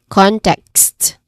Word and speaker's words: context: It has only two distinct syllables too, starting with con, which is its stressed syllable. I've mentioned it many times already. When it comes to con, it has a short O vowel sound. And then text, here, it has a short E vowel sound and consonant cluster sound of K, S, and T. Kst, kst, context.